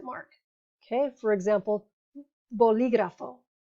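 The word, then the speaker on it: bolígrafo: mark okay for example boligrafo so see the emphasis is on the third to last syllable one two three boligrafo simpatico one two three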